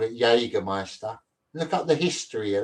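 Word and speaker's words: Jägermeister: My whole life I've been calling it Jagger Meister. There's no S in it.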